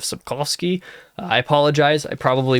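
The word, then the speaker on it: Sapkowski: In fact, I'm pretty sure I said Subcowski instead of Subkovski.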